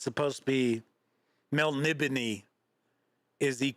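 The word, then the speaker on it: Melniboné: pronounce it I understand it's supposed to be Mel nibon is the correct pronunciation but I've pronounced it Mel banet and so is all of my friends for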